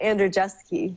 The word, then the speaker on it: Andrzejewski: I'm gonna try this andreevski that's probably really close to the Polish pronunciation oh how do you pronounce it we say Andre jeski just to make it easy just to make it